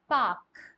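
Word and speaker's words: park: इसको ऐसे बोलेंगे पाक सो आपने नोटिस किया होगा there is a letter are and when we are pronounce the sound of this word we are saying पाक तो some how we have made the sound of hour later silent Y so there are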